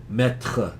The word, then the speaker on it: Maître: Maître is how to pronounce it.